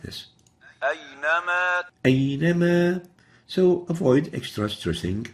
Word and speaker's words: أينما: أينما. أي. That's, we're really stressing the ya here. And the right way of pronouncing it is like this. أينما أينما.